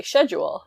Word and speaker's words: schedule: So for example, schedule, he was supposed to say schedule. So sure. That's how he pronounces it. That's not the way most Canadians pronounce it. That's the way Brits pronounce it.